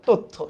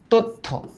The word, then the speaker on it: তথ্য: কিন্তু এটার অ্যাকচুয়ালি উচ্চারিত রূপটা কি দেখবা তোমরা, টেস্ট পেপার গাইড বা বই খুলে দেখবা, এটার উচ্চারিত রূপ কিন্তু তথ্য। উচ্চারিত রূপ কিন্তু এইভাবে দেওয়া, তথ্য।